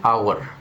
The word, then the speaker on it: hour: an umbrella, and an hour. Use N because the letter H is silent. Hour, not hour.